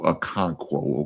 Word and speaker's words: Okonkwo: I think it's how he pronounce it. Oh, Okonkwo.